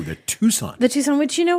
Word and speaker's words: Tucson: you know what I every time I have to spell it out cuz it's spelled t u c s o n in my head I have to call it the tuxon tuxon or I want to mess the S and the C up yes the number of